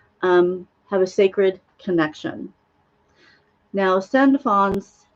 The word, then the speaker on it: Sandalphon: Now, Sandalphon's name has been said many different ways.